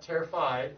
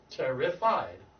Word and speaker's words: terrified: five terrified was terrified there's a syllable missing it's not terrified it's what's the root word of that word tarah terror yeah so terrified terrified yep don't leave out the syllables terrified I was terrified